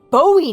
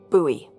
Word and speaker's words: Bowie: out this huge Rusty Bowie knife it's actually pronounced buoy what no it's like